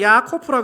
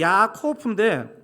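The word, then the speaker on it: יעקב: 들으신다 이건 신비입니다 사실은 야곱의 히브리어가 야코프라 그랬죠 근데 참 신기한게요 성경은 참 신기한 거 같아요 이게 야곱이 히브리어로 야 코오프인데 씨름하다는 히브리어가 예약 코프입니다 예약 예압에 큽니다 예압에크 뭐라고요 예합의 발음이 거의 비슷하죠 창세기 기자가 왜이 워드플레이를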